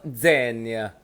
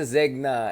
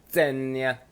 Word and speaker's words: Zegna: I just got to know, Ermagianildo Zenia. Yung brand na yan. I learned how to pronounce it. Zenia. Ermagianildo Zenia. Ganon dapat yan. Ermagianildo Zenia. Okay, hindi siya Zegna. It's a Zenya.